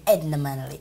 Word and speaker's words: Edna Manley: Edna Manley. Edna Manley. Am I pronouncing it right? It's Edna Manley.